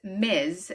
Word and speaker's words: Ms: pronounced miz.